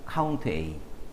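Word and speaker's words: COUNTA: 차이가 뭐죠 a 있죠 혹자는 카운터라고 읽어요 근데 선생님은 a 자를 일부러 강조하려고 카운트 a 한번 해봐요 카운트 a a 올이에요 Al 뭘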